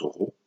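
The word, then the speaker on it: ρ: Le symbole de la résistivité c'est cette lettre grecque qui se prononce rho.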